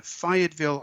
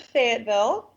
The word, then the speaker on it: Fayetteville: But you grew up in Fayetteville, Arkansas. So what was it like growing up where you grew up in Fayetteville? Well, we pronounce it Fayetteville.